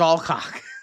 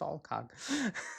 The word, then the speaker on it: Alcock: I looked it up. It is Alcock. It sounds dirty, but it is Alcock. Okay, it does. I know people are going to say I'm saying it wrong, but according to the YouTube video, which I sent to both of you, it was Alcock.